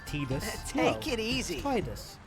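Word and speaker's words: Tidus: his name is pronounced tus take it easy tide like like the sea you know Terror Cloud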